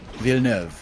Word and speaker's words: Villeneuve: I looked on YouTube how that director is pronounced exactly in French, because that's how much respect I have for him. No joke. Denis Villeneuve.